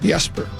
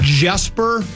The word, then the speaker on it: Jesper: Just like the yeser is a J, but it's pronounced with a Y. Yes. Yesper.